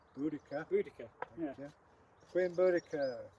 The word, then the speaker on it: Boudica: one of the most famous British women warriors, Boadicea. Boudica. Yeah. Queen Boudica.